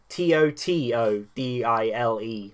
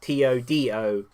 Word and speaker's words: Totodile: Starting, of course, with number 12, and that is Totodile, which I always pronounce Totodile, even though there's no D in it. It's Totodile, not Todile.